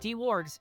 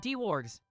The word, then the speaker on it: Dwarg: My name is pronounced D-Wargs, not D-Wargs.